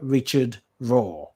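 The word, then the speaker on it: Richard Rohr: a priest called father richard raw his last name is spelled r-o-h-r father richard raw if you don't know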